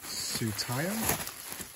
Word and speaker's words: Tsutaya: Tsutaya? I think that's how you pronounce it. I went on Google Translate and I typed in the Japanese name. And I'm pretty sure I remember it saying Tsutaya.